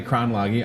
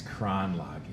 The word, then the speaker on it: Kronlage: So to my right, Kayla Benefil is here, and Stephanie Kronlage. I said it right, didn't I? You did, yeah. I've been practicing, Stephanie, ever since Nuria emailed me. I was like, it's Kronlage.